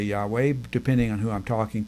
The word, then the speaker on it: Yahweh: yahu in casual conversation now probably a better pronunciation of the name of God is Yahweh because there is that that accentuated sound in